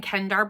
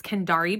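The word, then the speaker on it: Kendare: I think earlier in the vlog, I was saying Kendar Blake for the author. Now that I've listened to the audiobook, I do realize that it's Kendari Blake, and I will fix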